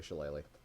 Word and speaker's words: shillelagh: It's definitely Shillelagh. How to pronounce Shuttlelock?